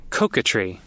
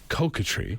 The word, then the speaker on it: coquetry: car up all right I found the actual pronunciation let's see catry catry catry and it's like flirty being being so like